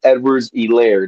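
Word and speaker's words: Edwards-Helaire: semi-serious on this one I'm gonna go Clyde Edwards elair the H is silent because this is a man who only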